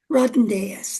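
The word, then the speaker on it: Rodonaia: he Rodnaeus, that's how you say his name, and he was hit by a car, and he got killed right away.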